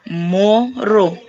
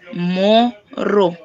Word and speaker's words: moro: Okay, so for the first one, that is moro. So it's moro, right? And then there is makadi.